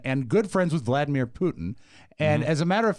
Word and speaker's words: Putin: to close with this the proper pronunciation of a Russian leaders named Vladimir Putin Putin and watch are Danielle